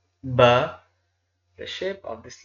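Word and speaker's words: باء: It can be pronounced like here B-A-A, Ba.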